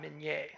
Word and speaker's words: Minié: These are called mini balls or Minié balls. This is a bullet that was invented by a Frenchman named Claude Minié.